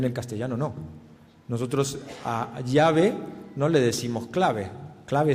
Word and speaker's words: llave: y se dice llave Pero cómo se dice en el castellano de Argentina no se dice llave nadie escuchará llave en Argentina no sabe ni lo que es y uno dice el llave en Argentina si dice llave con una casi x catalana no como Xavi o llave qué es lo